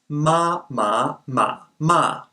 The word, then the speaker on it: 妈麻马骂: give you different meanings a common example is ma ma ma ma so the same syllable ma can either mean mom num horse curse this becomes even more problematic